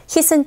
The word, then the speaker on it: hit: Hit은 짧게 발음하시면 되겠죠. Heat 하게 되면 열 이런 의미이기 때문에 달라지죠. Hit은 짧게 hit 하시면 돼요.